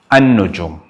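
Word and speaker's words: النجوم: So now when we pronounce this one, we pronounce it as An-Nujum. This way. You see this one? An-Nujum.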